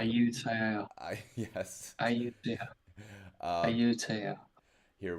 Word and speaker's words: Ayutthaya: Iwatola. I said that name wrong. Excuse me. Ayutthaya.